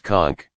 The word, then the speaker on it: conch: held a large shell usually a conch pronounced conch up to our ears and